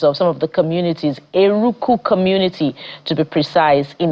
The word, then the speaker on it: Eruku: He's a leader, Eruku community, in Eruku community, Kwara State.